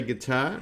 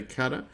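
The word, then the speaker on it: Qatar: of european deals and guitar or cutter i say guitar some people say cutter but however you want to spell it or say it they were the biggest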